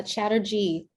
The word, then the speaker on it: Chatterjee: only chatter did I pronounce the name right first and foremost you were so close no please tell the people please tell the people the people you can call me uh Chatterjee Chatterjee I'm gonna get